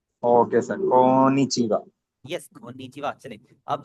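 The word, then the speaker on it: こんにちは: Konnichiwa, sayonara, हाय, ये। Yes excellent. जो है ना, यहाँ पर थोड़ा सा फोकस करें, डबल एन है इसीलिए आप इसे पढ़ें कोन्निचिवा। Okay sir, konnichiwa. यस कोन्निचिवा।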